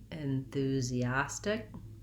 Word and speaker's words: enthusiastic: of air on that enthusiastic enthusiastic you might think about it as a light d sound again so many syllables